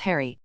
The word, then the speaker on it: Harry: to change the subject oh I forgot you have to pronounce the letter H here Flur nodded clearly English